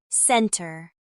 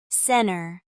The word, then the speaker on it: center: In casual speech, NT can become a nasalized N sound with the T disappearing, especially in words like center, center, winter, winner, and internet.